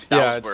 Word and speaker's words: Bowswer: I mispronounced your name earlier, didn't I? It's Bowswer.